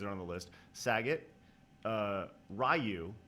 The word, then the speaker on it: Ryu: Saget, Ryu, not Ryu. Right. Right. Well, are you talking about old school pronunciation or the actual pronunciation?